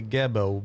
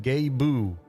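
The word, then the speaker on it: Gebo: Uh, the next one, this little X you got here, it's called uh I would say GBO, but apparently you're supposed to pronounce that Gaboo.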